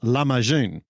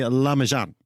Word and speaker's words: Lahmacun: The Turkish version of this word is pronounced Lahmacun, I understand. June at the end of it. I'm a Kiwi, so we tend to say Lahmacun, but I think we all know what we mean.